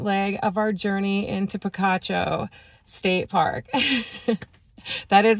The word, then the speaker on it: Picacho: on our second leg of our journey into Picacho state park that is how you pronounce it correctly um you guys know I